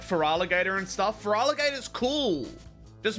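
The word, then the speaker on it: Feraligatr: Why do you say Feraligator like that? That's how it's pronounced. It's not fereraligator.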